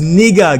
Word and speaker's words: Niger: is speaking of but the accurate pronunciation of this word is Niger guys okay I will